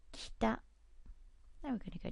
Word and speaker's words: 北: There it is, north, here, north, and the pronunciation is kita, kita.